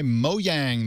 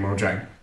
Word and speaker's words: Mojang: big money-making machine in Mojang. So yeah, we'll see. I noticed you pronounced it Mojang and I pronounced it Mojang. I was trying to be Swedish.